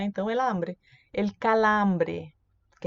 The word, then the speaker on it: hambre: Fala, porque o H é mudo, né? Então, el hambre.